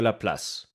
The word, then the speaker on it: Laplace: to notice this was a man named piercimon De La Place otherwise pronounced in English as LaPlace now LaPlace didn't know